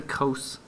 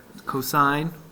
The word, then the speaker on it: cosine: cosine and tangent sine cosine don't say Coast's cosine cosine cosine cosine cosine